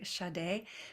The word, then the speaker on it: Shaddai: It's spelled S-A-D-E, but with some little characters around it to emphasize the sh and the a, Shaddai, which means the uncultivated field.